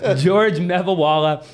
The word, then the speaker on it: Geogre Mevawala: We have Geogre Mevawala. Yes. Did I say it right? Yes, sir. You got it. Geogre Mevawala.